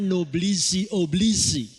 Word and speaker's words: noblesse oblige: di dalam bahasa Perancis tulisannya seperti itu bacanya noblesse oblige kalau diterjemahkan artinya di